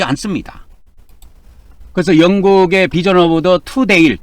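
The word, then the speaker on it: Tundale: 그래서 영국의 비전 오브더 투데일 투데일로 발음 투데일 투데일로 발음하면 되겠습니다.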